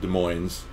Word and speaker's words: Des Moines: Yeah, so they walk around and they don't say the S. Because they don't have fluoride. Right. Thank you. No fluoride in Des Moines, everybody.